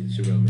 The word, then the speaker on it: Shirelle: So I was like, all right, let me make sure I'm pronouncing it right. Right. Shirelle. Oh yeah, Shirelle.